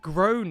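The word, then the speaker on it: Gráinne: She asked what I meant, and I said, well, in Ireland, they typically pronounce it like grone. Is that how you want to say it? Grown-eye?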